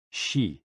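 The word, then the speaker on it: xi: the spleen and x-i pronounced like she which connects the whole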